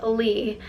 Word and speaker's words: Leigh: And a lot of people mispronounce my middle name, but it is Lee, like L-E-E, but L-E-I-G-H.